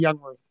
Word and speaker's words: Jungwirth: your last name It's actually youngworth youngworth I thought so as